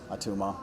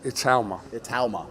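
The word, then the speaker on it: Itauma: I'm going to go with uh Atuma. How do you say it? Atuma Moses Italma Italma.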